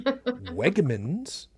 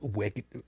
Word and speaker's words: Wegmans: to our local Wegmans, yes, I pronounced it correctly, Wegmans. Kids, Not if you don't get that reference, go look it up. Wegner's.